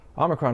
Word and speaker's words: omicron: Omicron is morphologically opaque for a lot of people.